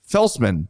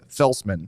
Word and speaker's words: Feltsman: question IceHogs Yuri Feltsman that's how you say it we heard him say it we listened to a video of him saying his own name Feltsman More of those please Adam Gayan did the same thing too.